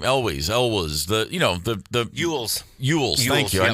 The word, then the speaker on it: Elwes: Elwes, the Ewells.